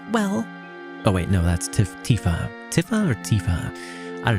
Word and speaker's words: Tifa: Oh wait, no, that's Tifa.